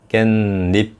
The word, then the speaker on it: 깻잎: 이 모음 앞에서 니은 하고 니은 발음이 겹쳐서 날 때 깻잎 하죠. 깬 하고 잎 이렇게 발음되잖아요. 니은이 두 개로 나죠.